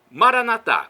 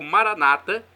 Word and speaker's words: Maranata: nosso católicos falamos ou com a tônica na penúltima sílaba como pronunciam os protestantes o significado é o